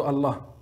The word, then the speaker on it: Allah: Deuxième point, on ne doit pas allonger le A de Allah, le premier A, le premier A de Allah. On ne doit pas l'allonger.